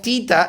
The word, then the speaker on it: theta: Differentiate h of theta is equal to theta square.